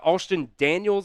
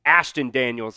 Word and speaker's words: Ashton Daniels: Uh, Austin Daniels, I believe, is how you pronounce his name. Maybe it's Ashton Daniels. Um, has now gone in for Auburn here. Ashton Daniels. Yeah, that's his name.